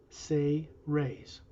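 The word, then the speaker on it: Seres: the race he's from known as the say rays s-e-r-e-s but pronounced say rays their whole race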